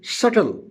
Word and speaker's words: subtle: And then we use a word subtle, S-U-B-T-L-E, subtle. In subtle, the meaning of subtle is subtle, S-U-B-T-L-E. Subtle means serious. So in subtle, B is silent.